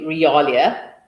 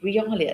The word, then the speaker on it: realia: So if we for instance Aha I see one already realia or real rialia that's how you say it put it up.